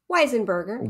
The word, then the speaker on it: Weisenberger: How did I pronounce that? How do you pronounce it? Weisenberger. Weisenberger. You said it right.